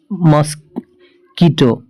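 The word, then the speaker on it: mosquito: आई टी ओ ठीक है अगर ये दे मस् कीटो मॉस्किटो मॉस्किटो ओके मॉस्किटो मतलब होता है मच्छर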